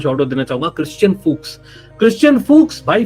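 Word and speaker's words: Fuchs: लेकिन उससे पहले लेफ्ट बैक एक और शॉट आउट देना चाहूंगा, क्रिश्चियन फूक्स भाई, फूक्स है उसका pronunciation, don't get it wrong.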